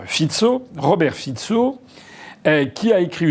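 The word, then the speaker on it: Fico: Premier ministre slovaque monsieur fitzo ça s'écrit F co mais en slovaque il paraît qu'il faut dire fitzo Robert fitzo qui a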